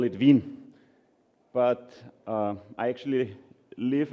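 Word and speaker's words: Wien: visit today actually here so we call it Vin but uh I actually live and come from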